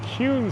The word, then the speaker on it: Kuehn: And here we are on Kuehn Street. It's spelled K-U-E-H-N. You'll hear that a lot in Kuehn Street.